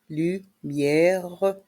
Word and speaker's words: lumières: Les lumières de jardin. Dans le mot lumière, le R reste en suspens. Le S est muet.